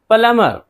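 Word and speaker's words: plumber: नहीं पढ़ेंगे डेट कर्ज प्लमर प्लमर यहां भी देखिए एमबी है तो बी को नहीं पढ़ेंगे नलसाज वैसे तो पलंबर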